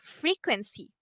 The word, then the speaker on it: frequency: So it's frequency. Frequency. Can you repeat it for me? Okay. So the word frequency have the stress on the first syllable.